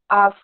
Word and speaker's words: ask: sound let us ask instead of we usually say axe or ass but it's ask ask and father harsh harsh